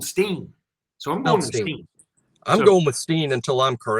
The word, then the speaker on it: Holstein: I've heard his name pronounced Holstein by people who talk to Eli Holstein. So I'm assuming they're getting it right.